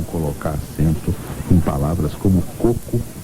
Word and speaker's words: coco: acento circunflexo no coco coco é paroxítona terminada em o como rosto como corpo como seco como molho como agosto né como azedo né como carro como